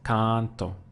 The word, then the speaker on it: canto: same thing would be with canto I sing here we have again two syllables con don't so again I pushed down on the one before last canto so now I'm saying